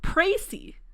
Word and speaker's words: précis: Oh, précis. It's a précis. A précis of the case. Précis in American English, apparently.